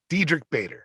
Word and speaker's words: Diedrich Bader: Dietrich Bader. What? Dietrich Bader. I can't remember. Diedrich Bader. Dietrich, yes. that's it.